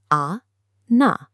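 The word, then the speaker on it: أنا: The Arabic word for I is ana. It is composed of 2 simple syllables, a, na, ana.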